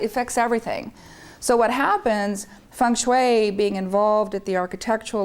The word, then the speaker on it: Feng Shui: No, by the way, I say Feng Shui because I study with Asians and that's how they pronounce it. And it's actually Feng Shui, like Sui, you're not supposed to smile, so it's Feng Shui.